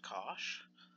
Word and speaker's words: cosh: at the end for bollock in it is pronounced cosh and this is e to the X plus